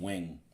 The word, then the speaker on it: Nguyen: When you start looking at names that are spelled Nguyen and you pronounce them wing, like wow.